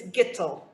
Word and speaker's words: Gitel: It's Gittel. Gitel. Rhymes with little.